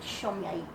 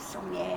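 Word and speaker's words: Somlay: and he's Hungarian, and you notice it's spelled S-O-M-L-A-Y. He pronounces it Sommier. But for New Zealanders, we use Sommier, and I'm a teacher, so I have to have a name that can be pronounced.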